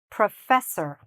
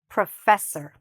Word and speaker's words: professor: There are two things to be careful of, here. This "o" and this "o", okay? They're both reduced or shortened, or said a little bit fast. Listen again, "professor". So, we're not saying "or", we're saying "er". Okay? Again, "professor". Very good. Now, where's the stress? Listen, "professor". Good. It's here, on the "f" - "fess", "professor".